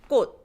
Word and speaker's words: 꽃: read 꽃, flower, it's 꽃, 꽃, because we don't release the last consonant, 받침, and go 꽃. You just put your tongue where you will pronounce this ch and hold it there, right?